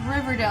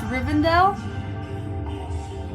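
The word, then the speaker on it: Rivendell: I said it right I almost said Riverdale and it is not I don't think it's Riverdale it's rivendale anyway if you've seen Lord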